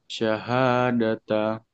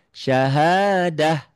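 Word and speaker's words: شهادة: Tak marbutah apapun barisnya dia jadi bunyinya jadi sukun. Jadi bunyi mati gitu. Syahadah itu jadi ha ya itu spesial ta marbutah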